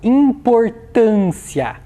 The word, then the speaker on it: importância: o acento agudo na próxima palavra vamos lá importância qual é a sílaba mais forte dessa palavra é a sílaba